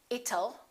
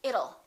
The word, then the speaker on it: it'll: how does that sound don't say it'll let's change that t into a fast d and say it'll it'll rain it'll be hot it'll be nice it'll rhymes with the word little we don't say little